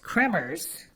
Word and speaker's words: Kremers: KRIS KREMERS, phonetically pronounced Kremers with a hard trilled R, a middle child with